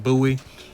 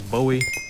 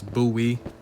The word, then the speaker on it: Bowie: It's pronounced Buoie. Yeah, at first I thought it was Bowie because the way it looked, but no, it's Buoy.